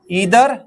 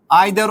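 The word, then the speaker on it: either: और ये distributive pronounce क्या है? Each, right? ईदर एंड नीदर। आइदर और नाइदर भी आप पढ़ सकते हैं।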